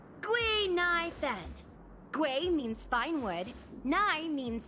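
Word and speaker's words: Guinaifen: with an authentic Ceno name based on the pronunciation gu NY Fen gu means finewood NY means to exist and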